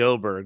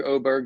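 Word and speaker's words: Åberg: guy interesting name Jee he's got a little circle over his a which I believe is some sort of Scandinavian pronunciation to make the a and o which I find me Jeff but you know in America people get angry at me if I say oberg my wife was angry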